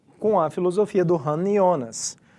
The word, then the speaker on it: Jonas: Apesar do nome dele escrever Jonas, se pronuncia Jonas, tá? Já que é um filósofo mais alemão.